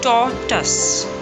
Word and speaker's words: tortoise: In the first half, T-O-R, R is silent, and in the second half, it's simply tus. There is no use of O-I. Tortoise.